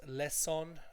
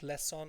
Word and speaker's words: lesson: Lesson. It's not lesson, it's lesson. Okay.